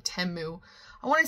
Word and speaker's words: Temu: we did some temu hauls now listen it's pronounced temu originally I hate that name I know if it was timu it would have a name in it but I cannot keep saying temu I want to say teu so bad it